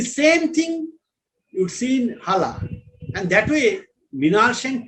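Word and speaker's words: Xala: You can pronounce it as Zala, but it is Hala or Thala, by Osman Sembeh, where we see that the colonial power is replaced, but culturally nothing is replaced.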